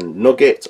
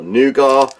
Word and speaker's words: nougat: what they're like we have a nugget or nougat depending on where in the world you're from there's the pronunciation there